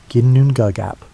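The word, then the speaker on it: Ginnungagap: Before there were worlds or stars or the concept of up and down, there existed only ginongagap, pronounced ginunap.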